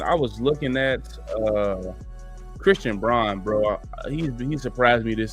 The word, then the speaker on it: Braun: in the playoffs, but Braun, I don't know if is it Braun or Brown? They say Brown, but it looks like Braun. Yeah, I think it's pronounced Brown, but it looks like Braun.